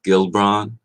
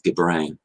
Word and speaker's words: Gibran: is the brand's masterpiece i keep saying gibran and i will say oftentimes gilbron but the guy's name is gibran g-i-b-r-a and bran like bran so do i do apologize